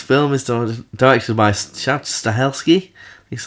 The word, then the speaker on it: Stahelski: So this film is directed by Chad Stahelski.